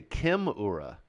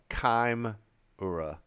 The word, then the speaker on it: Chimera: else is in C's Chimera always did that as the ch like chaotic let's say Kim Ura what Kim or Kim ireu or kaim Ura uh okay oh this